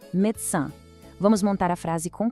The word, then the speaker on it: médecin: E médecin também termina com um som nasalado, médecin.